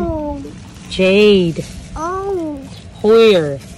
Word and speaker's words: Hoyer: Chứ tiếng Anh đọc là Jade. Right? Oh. Jade. Oh. Hoyer. Hoyer.